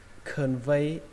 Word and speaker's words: convey: Yes, I will convey it. Ở đây chữ này các bạn cần lưu ý, chữ này có nghĩa là truyền đạt. Nó trọng âm của nó rơi vào âm thứ hai, âm V.